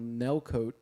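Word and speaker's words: Nellcôte: The next place that they end up recording is called Nelcote, France, and I say coat even though it's spelled cot, but it has one of those funky accents over Yeah. the O's.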